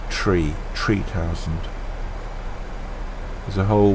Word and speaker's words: three: seven for three thousand and you pronounce three as tree three thousand there's a